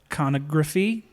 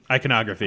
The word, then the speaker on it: iconography: There's a lot of iconography. Iconography. Yes. Iconography. Yes. That's pronunciation. That's the word. Yeah. You put emphasis on the wrong syllable.